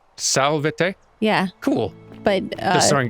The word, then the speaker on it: salvete: correct yeah but you you pronounced the v's with like kind of a w oh so Sal Day yeah cool and that